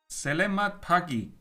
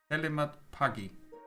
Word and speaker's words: selamat pagi: You pronounce it close enough. It sounds like it's written.